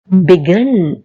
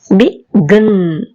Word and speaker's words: begin: begin, begin. அப்ப stress வந்து கடைசிக்கு தான் கிடைக்குது, ஆகவே double N ing.